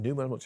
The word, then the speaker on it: Neumann: leaders yeah you know adam newman uh neumann newman pronounced it at wework i mean it's extraordinary you